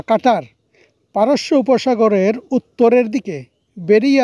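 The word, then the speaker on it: قطر: এই প্রত্যাশা কাতার কাতার আরবি উচ্চারণ হিসেবে বলা হয় কাট বা কাটার।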